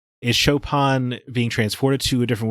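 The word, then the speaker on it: Chopin: a very thorough imagination is it pronounced chopan I've been pronouncing it chopan my entire life that game say shopan about 1900 times so I guess uh shopan got stuck in my head but yeah it is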